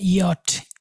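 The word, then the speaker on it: Jot: হা, আইটাকে বলবো ই, জেটাকে ওরা বলে ইয়ট, ইয়ার মতো উচ্চারণ হয়।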